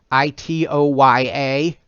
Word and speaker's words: Itoya: These are art portfolios from the company Itoya, I think it's pronounced. Itoya.